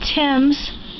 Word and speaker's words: Thames: This here is, it's called Thames, the Bay Thames. Because it's spelled T-H-A-M-E-S, I always tease Brian, I call it Thames.